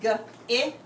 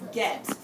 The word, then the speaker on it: get: Sometimes we say get and it sounds like g-it. But actually it's get.